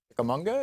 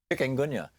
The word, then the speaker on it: chikungunya: And, and I'll know in a week if I have malaria or Zika or dengue fever or chickamauga. Is that how you say it? Chikungunya.